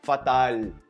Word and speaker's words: fatal: português quequen no detalhe que as palavras em português que terminam com l você vai pronunciar como se fosse um U Então você nunca vai falar fatal fatal você fala fatal